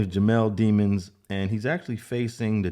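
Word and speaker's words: Jamell Demons: And that's the way his name is pronounced. I was watching some of the news on this. His name is Jamel Demons, and he's actually facing the death penalty.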